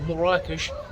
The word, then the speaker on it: Marrakech: you to have additional appreciation for mores that's how it's pronounced by the way in the country M rakes it's absolutely